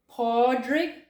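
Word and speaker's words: Pádraig: Paddy's Day, it's actually Paddy, like Padraig. This is an A, if you can't. Padraig. And Padraig is Patrick. And Paddy is Paddy for Padraig, St. Patrick. So when you want to wish your friends Happy St. Patrick's Day or Happy St. Paddy's Day, be sure to use the D's, the double D's, not the double T's, because Patty is short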